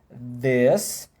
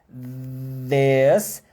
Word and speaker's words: this: Todos os indicativos, por exemplo, do inglês, eles usam esse mesmo TH, né? Este, esta, aquele, aqueles, aquelas, esses, essas, em inglês. This, these, that, those. É tudo, ó, travado.